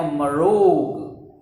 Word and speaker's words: Marrog: I am a Marog. So if you don't know the spelling of Marog, you should learn this spelling. M-A-M-R-R-O, Rog. Okay, 3 syllables.